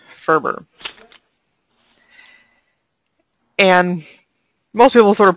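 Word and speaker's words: FRBR: a little bit about a conceptual model called Ferber and most people sort of pronounce the acronymous F you'll hear it as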